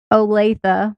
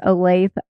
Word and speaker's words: Olathe: So Tawnya lived near Olathe, which I had to learn how to say to even do this podcast because I thought it was Olathe, Kansas.